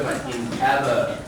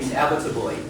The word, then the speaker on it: inevitably: The stress on the second syllable, so we say inevitably. Once again, inevitably.